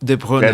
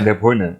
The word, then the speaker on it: De Bruyne: Como se pronuncia, Thiago? Isso é difícil, hein? É alguma coisa do tipo De Bruyne. De Bruyne, né?